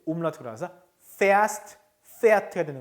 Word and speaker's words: fährst: Du umlaut가 들어갔네요. fährst. Du fährst. 발음이 달라졌죠. umlaut 때문에.